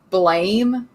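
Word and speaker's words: Blame!: a movie of um blame or it's pronounced like blam like explanation point but spelled like blame i feel like i've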